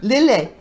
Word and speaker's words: Lillet: How do you pronounce it? Lillet.